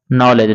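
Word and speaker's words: knowledge: इसी तरह से अगला आप जब लिखिएगा नॉलेज, तो नॉलेज में के से स्टार्ट होता है, लेकिन के को हम लोग साइलेंट कर देंगे तो हो जाएगा या इसका नॉलेज।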